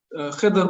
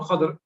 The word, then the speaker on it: Khidr: Second story is about Khidr or Khadr, the different pronunciation, which is not, the